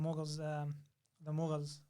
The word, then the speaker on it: Mughal: Okay, so the next question, maybe now that we've got to the Mughals, what's the best way to pronounce it?